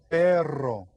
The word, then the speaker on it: perro: Perro. And remember, this one you get to roll your R. So say perro.